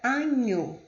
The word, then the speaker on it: agneau: O GN tem o som de NH, como a palavra agneau.